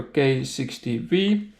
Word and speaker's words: K60B: And in this video I would like to show the carburetor K60V. You can see here it's written K60B but because it's in Russian then letter B is pronounced as letter V.